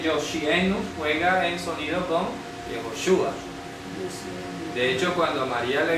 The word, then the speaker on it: Yehoshua: hacemos cuando hablamos de jehoshua vamos Air la pronunciación yoshua este signo de aquí indica s es es